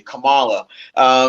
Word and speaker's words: Kamala: Well, off by saying that Kamala Harris, and I'm glad we're finally pronouncing her name correctly, Kamala.